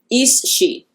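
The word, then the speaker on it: aos sí: So the fae is pronounced in Gaelic. I looked this up. Hopefully it's right. Is-she. And that's Aossi.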